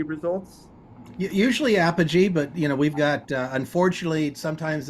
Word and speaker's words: Apogee: So, you are the CEO and founder of, is it pronounced Apogee Results? Usually Apogee, but we've got unfortunately sometimes it's Apogee, and